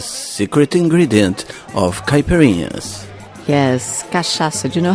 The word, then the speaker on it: cachaça: Yes, cachaça. Do you know how to spell that?